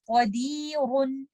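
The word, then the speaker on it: قادر: So I will recite this word like this. Qadirun. But if I'm choosing to stop at letter ra with a sukoon, I will make this letter ra light and I will recite it with tarqeed like this. Qadir. And we try to avoid the taqreer with this. Do not say qadir. Try to avoid the repetition in letter ra.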